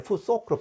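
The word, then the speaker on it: futhorc: 이런 이거 바로 룬 문자, 이 문자 체계를 푸소크, 이곳 6개를 말해가지고 푸소크 하게 되는데요. 처음에는 푸사크 했는데 푸소크로 바꿔야 됩니다. 아가 오, 모음 변이가 일어나가지고 된 것인데요.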